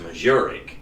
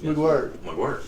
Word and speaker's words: McGuirk: I thought it was pronounced Majoric. Yeah, spelled funny, isn't it? Somebody said no. McGuirk. We had some McGuirks at Alexandria, so I know how to say it.